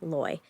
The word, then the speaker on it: lawyer: Okay, how do you pronounce the first syllable of the word L-A-W-Y-E-R? Lawyer. I hired a lawyer. Lawyer. Loy. So rhymes with boy. Yeah. There's also rhymes with flaw, Okay. and I use both pronunciations.